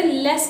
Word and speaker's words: let: ठीक है, और लेट को लेट प्रोनाउंस नहीं करते, लेस करते हैं।